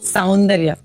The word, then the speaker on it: சௌந்தர்யா: கரெக்டா ப்ரொனவுன்ஸ் பண்ணேன், சௌந்தர்யா.